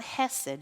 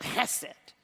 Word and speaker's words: Hesed: It can be spelled either way, but you have to make sure that you make that a nice hard S. So it's not Hesed. You got to say it like you feel it. Hesed. All right? That's why they put that CH there.